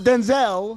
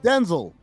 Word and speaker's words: Denzel: Denel Washington. Yep. It's not Denzel. Denzel. It's Denel. Denel Washington.